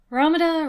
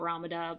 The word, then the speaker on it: Ramuda: sum up everything about Ramada before King records has a chance to properly kill him off ramada's name is based on the Katakana pronunciation of the Greek letter Lambda which is used in